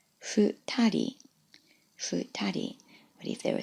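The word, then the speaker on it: 二人: Now in the example, I've chosen 2 people, which is pronounced futari, futari.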